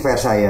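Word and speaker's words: Versailles: kali Diang ver ya tulisannya faes ini bahasa Prancis ya Mas Iya cara bacaknya versa itu eh info yang kita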